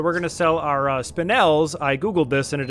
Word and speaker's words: spinel: be done so we're going to sell our spinels i googled this and it is pronounced spinels spinel we're gonna sell pretty much